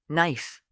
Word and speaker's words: knife: Let's practice common silent letter patterns. Silent B words. Comb. Tomb. Debt. Doubt. Silent K words. Knife.